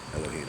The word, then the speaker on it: Elohim: Spell it E-L-O-H-I-Y-M? There's no what. No, Elohim.